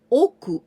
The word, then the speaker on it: 屋: Now we're gonna see when we pronounce oku instead of ya, oku.